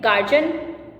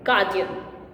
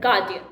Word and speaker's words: guardian: Some people say guardian, others say guardian. I don't know where is that J sound coming from. Whereas the pronunciation of this word is guardian.